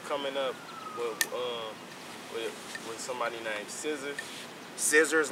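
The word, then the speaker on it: Scizzars: Shit, man, I got a battle coming up with somebody named Scissors. Scissors, like scissor scissors? Like scissors, but nigga spell that shit funny as a bitch.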